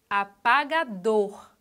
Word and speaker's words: apagador: Outra palavra, apagador. Apagador. A sílaba tônica é dor. Classificação, oxítona. Mármore.